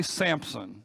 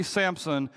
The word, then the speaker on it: Samson: his name correctly I I say Samson with a p in the middle of it and there is no p